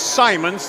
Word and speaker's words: Simons: Yeah, the libero is Simons, not Simmons.